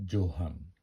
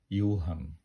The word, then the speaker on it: Johan: আমি আপনাদেরকে বলব ইংরেজিতে জোহান কিন্তু সুইডিশে হলো ইউহান জের উচ্চারণ ই হয় গো তে বোর্গ কিন্তু